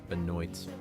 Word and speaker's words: Benoit: Actually, Detroit Benoit. That's how we're pronouncing it. Benoy.